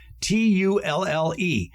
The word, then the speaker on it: tulle: Tulle.